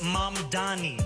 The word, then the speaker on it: Mamdani: And furthermore, the name is Mom Dani. M A M D A N I. You should learn how to say it.